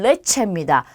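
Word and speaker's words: leche: 자, 엘레는 기본 발음이 리을이에요. 그래서 영어랑 똑같다고 보시면 돼요. 그럼 첫 번째는 리브로가 되겠죠. 얘는 책을 뜻하고요. 자, 이 다음은 레체입니다. 얘는 우유를 뜻해요. 그리고 루나 하면 달을 뜻하는 단어예요. 그래서 전부 다 리을로 발음이 돼요.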